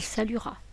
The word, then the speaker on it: saluera: Prenons son infinitif, saluer, et collons la terminaison avec il au futur à il saluera, avec le E muet à chaque fois.